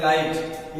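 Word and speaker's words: light: जिसका नाम जैसे मान लीजिए हम लिखते हैं लाइट एल आई जी एच टी अब लाइट तो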